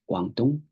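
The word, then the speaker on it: Guangdong: Western uh language um the Chinese pronunciation of the capital is guangong in manding the speaking population in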